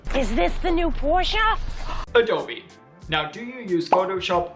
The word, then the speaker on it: Adobe: brand name incorrectly however the one and only way to pronounce it is Adobe okay accidentally opened Adobe